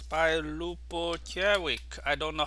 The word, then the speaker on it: Ljubojević: okay so it's by lupo jerick i don't know how to pronounce this i please the first j is not not um pronounceable so so it's silent so it's a loop